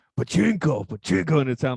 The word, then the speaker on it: pachinko: pachinko. Yeah, because if you want to stress the first or the last sounds, you don't want to stress the middle one, because in Japanese that sounds dirty.